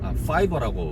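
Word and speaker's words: Fiverr: 그런데 이제 또 내가 그러한 능력이 없다 하더라도 걱정을 안 하셔도 되는 게, 요새는 이제 크몽이라던가 아니면 이제 파이버라고 뭐 발음하라고 그러던데, 파이버 미국이죠.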